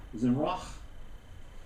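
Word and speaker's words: זמרה: The word singing here, which is the Hebrew word zimrach. Let's put your accent on the last part of the word in Hebrew, in which means songs.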